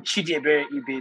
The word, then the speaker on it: Chidiebere Ibe: and thank you for you once more i'm chidi very ebay because i know a lot of persons uh you know actually i mispronounced my name which is right before i